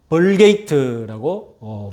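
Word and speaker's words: Vulgate: 영어권에서는 이 불가타를 영어 발음으로 벌게이트라고 부르고 있습니다.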